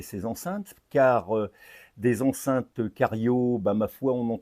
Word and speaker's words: Chario: Alors, je dis cariot, ça s'écrit chariot mais je crois que ch en italien ça se prononce que les italophones me contrediront ou pas.